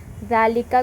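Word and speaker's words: ذلك: जालिका को इस तरह से प्रोनाउंस करते हैं। बट अलिफ लिखते नहीं है।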